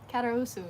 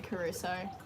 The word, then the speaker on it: Caruso: caruso actually my last name is pronounced um karaousu in romanian ah but it's way to say caruso when speaking english yeah placenta okay um